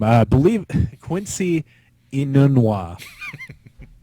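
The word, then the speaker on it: Enunwa: So now I get to try to pronounce his name. I believe Quincy Inunwa. Inunwa.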